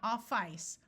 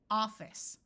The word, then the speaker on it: office: So we have the word office, not office, office.